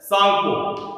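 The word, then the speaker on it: Tsangpo: तब तक इसका नाम इसे बोला जाता है सांगपो, टी is silent, सांगपो river, ठीक है।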